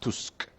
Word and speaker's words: Tusk: prime minister of poland named tusk well it's pronounced tusk but of course nobody outside of poland understands